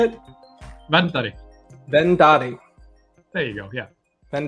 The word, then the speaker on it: Verndari: do you say it then Daddy there you go yeah then Daddy the r is silent but it's in there well so the first